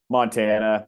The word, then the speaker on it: Montana: Did you ask if it's Montana or pronounced a different way or? Yeah. Just Montana.